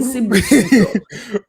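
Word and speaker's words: Sibusiso: There's no P in Sibasisu.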